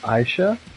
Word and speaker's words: Aisha: Or Aisha, as some call it. Although it's pronounced Aisha.